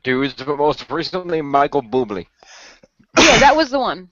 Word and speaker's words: Bublé: I love hearing Jim pronounce Bublé. That's awesome. Bublé. Yeah, it sounds like you're saying bubble incorrectly.